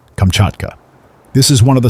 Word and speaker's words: Kamchatka: eastern Asia that forms the peninsula generally called Kamchatka. But according to the pronunciation of the Russian emigrants who inhabit it, and the dialect of the aborigines of the country, Kamchatka.